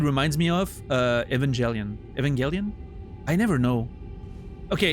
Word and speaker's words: Evangelion: Evangelion. I never know. Okay. It's It's a hard G because it makes no sense because angel, but somehow Evangelion.